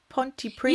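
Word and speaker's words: Pontypridd: all so that's interesting the D is silent is it Ponty priest yeah it's yeah priest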